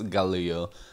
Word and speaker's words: Galil: So, first thing, I had to carry out a research to find out the correct pronunciation of the name of this weapon, and I'm fairly positive it's Galil.